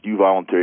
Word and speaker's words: euvoluntary: start of a trend and that word is you voluntary EU and then voluntary word pronounced you voluntary it looks like your spell check is going